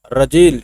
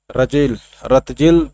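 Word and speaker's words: Ratzel: German geographer रजेल is considered as the father of political geography and human geography. रतजेल भी कह सकते हैं, लेकिन टी को साइलेंट करना होगा यहाँ पर।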